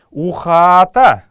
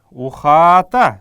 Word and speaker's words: ухата: Ухата, ухата, здесь мы должны с протяжкой произносить это.